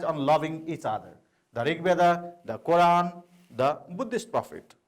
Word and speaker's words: Rigveda: of three is that the Rigveda stress is on a rig by the name of